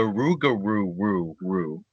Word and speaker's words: Rougarou: Hint, it rhymes with what I just did. Let's not bury the lead. We're talking about the Rougarou. Which also rhymes with the Dauberku, which we did recently.